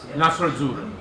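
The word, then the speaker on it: Nastro Azzurro: Nasr Azzurro, There you go.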